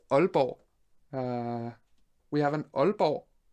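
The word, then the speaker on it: Aalborg: funny one that's a danish one uh that's pronounced albo we have an albo how would you pronounce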